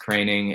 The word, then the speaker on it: Kroening: It's actually pronounced KROENING.